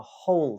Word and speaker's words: who: So in words like whole and who, WHO, the H is pronounced.